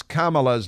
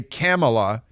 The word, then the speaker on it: Kamala: that you cannot mispronounce kamala's name or you're a racist you're don't say camela because no it's Kamala and don't say Camelot like the strip joint